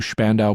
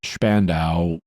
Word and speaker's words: Spandau: He was then confined to Spandau prison in West Berlin. In German, the name is pronounced Spandau. In English, it's pronounced Spandau, and you may hear me say it both ways.